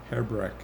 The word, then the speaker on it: Hrbek: Hebreck. Last name is spelled Hrbek.